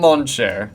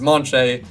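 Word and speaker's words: München: But then for their heavy rival team, what I am calling the Deutschland Monche, from Monche, which I believe is how you say Munich.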